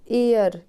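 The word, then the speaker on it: heir: Next यहाँ पे H silent है। ईयर, ईयर का मतलब होता है उत्तराधिकारी, तो क्या आएगा?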